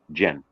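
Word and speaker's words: djinn: they are not and I spell it DJ i n n Jin and you have you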